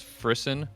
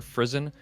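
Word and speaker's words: frisson: either that's actually a phenomenon known as frisen or frison I'm not sure how you pronounce it as f-r-i-s-s-o-n and a lot of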